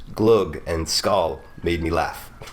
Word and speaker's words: glögg: It's glug is what I've been told. Like glug. Vet du vad det här är? Det här är glögg.